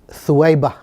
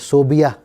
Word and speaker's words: ثویبہ: پلاتی ہیں، اور پھر ایک کنیز ہے ثویبہ، ثا واو یا با اور ہا، یہ صحیح سپیلنگ ہے ثویبہ۔ ہمارے ہاں اسے غلط سپیلنگ کی جاتی ہے، صوبیہ لکھا اور پڑھا جاتا ہے، یہ غلط ہے۔ ثویبہ نام ہے، کنیز